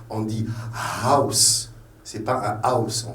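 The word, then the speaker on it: Haus: Le H se prononce. On dit house.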